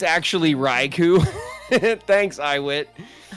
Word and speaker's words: Raichu: It's actually Raichu. Thanks, Iwit. It's Raichu.